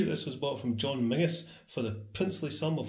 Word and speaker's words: Menzies: I can see this was bought from John Mingus for the princely sum of 14.25 and yes that is how you pronounce that it isn't Menzies The Zed is our substitute letter for an